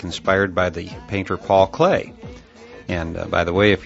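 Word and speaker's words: Klee: engineering student like me you may be pronouncing his name CLE kle just as it's spelled however I have it on very good authority that Clay is a proper pronunciation in any event uh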